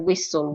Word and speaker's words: whistle: as an honest hour letter H can also be silent when we have it after letter W and if the next vowel is not o as a whistle what who whom letter